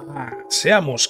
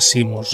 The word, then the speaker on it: Seamus: Seamos, qué listo eres. Creo que se pronuncia Simos realmente.